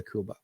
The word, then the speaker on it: Cuba: their sector of Kuba I say Kuba because that really how they pronounce Kuba Kuba Kuba but the tsta Revolution